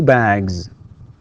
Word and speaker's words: bags: He has or she has 2 bags. Okay, 2 bags. Right. تكتب S وتنطق Z.